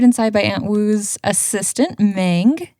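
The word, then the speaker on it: Meng: by Aunt Woo's assistant mang who is very excited that her name rhymes with Ang as she should be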